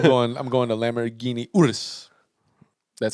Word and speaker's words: Urus: all that i'm going i'm going to lamborghini urus that's how you pronounce it that's the lambo truck the lambo truck that's where i'm going that shit about 250.